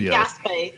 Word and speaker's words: Gaspé: It might be Gaspé. It might be pronounced Gaspé. Whatever.